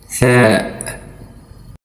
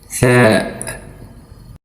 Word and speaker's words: ثاء: It is pronounced as th syllable, like in the English words thin or think.